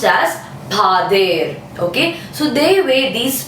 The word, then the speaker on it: pader: Okay, this is spelling Pader, but it's pronounced as Pader.